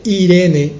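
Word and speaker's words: εἰρήνη: con té e irene y hoy hoy la pronunciamos como simplemente irene un nombre propio femenino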